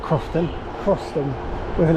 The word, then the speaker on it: Croston: So, we're going to head over to platform three and go over to Croston at 8:00 soon.